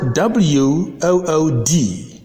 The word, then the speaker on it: wood: Another realization is when letter W precedes double O, the double O is sounded O. For instance, the word WOOD has the preceding W, so the word is pronounced wood, wood.